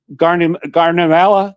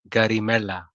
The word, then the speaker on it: Garimella: If you can say mozzarella, you can say garimella.